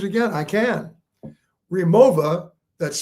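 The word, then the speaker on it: Rimowa: Remova, that's spelled R I M O W A and Briggs and Riley.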